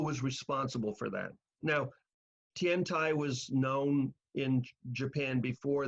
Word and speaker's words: Tiantai: And Tiantai was the form of Buddhism. Tendai is the same character as Tiantai. It's just pronounced a Japanese way instead of a Chinese way.